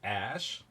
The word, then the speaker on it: Æ: else is saying so that a E is pronounced ash oh okay I was wrong but close and